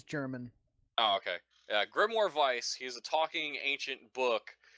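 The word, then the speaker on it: Weiss: grimoire of ice just spelled with a w but they pronounce it with a V oh it's jaron okay grimoire Vice he's a talking ancient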